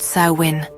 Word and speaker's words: Samhain: We have to go back to over 2,000 years ago to the Celtic festival of Samhain, pronounced Samhain.